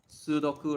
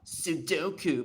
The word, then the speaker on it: sudoku: You know sudoku, right? A lot of like people say oh sudoku but it's actually there's actually two 's. It's just one of the use it got absorbed.